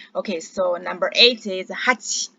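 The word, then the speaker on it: はち: yeah all right okay so number eight is hachi hachi okay number q a number nine is cool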